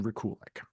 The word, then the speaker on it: Rekulak: it's a funny thing it's Ukrainian and so no one in America knows how to pronounce it it everyone mispronounces it